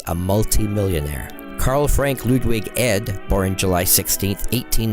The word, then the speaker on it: Ed: multimillionaire Carla Frank Ludwig ed or in July sixteen eighteen ninety lived until October tenth 1959 was a comic strip artists best known as the creator of Harold teen his name is pronounced heed Harold teen debuted in